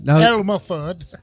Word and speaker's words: Elma: Elmer food Elma Elmer he spells it like he pronounces it Elma well e l m a el unfortunately I'm going